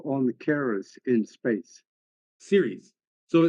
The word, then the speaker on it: Ceres: Series. So it's CERES is pronounced series, like television series.